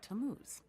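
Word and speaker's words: Tammuz: where do I find him his name is tamuz to what t a m m u z it's pronounced tamuz maybe if you show them your evidence he'll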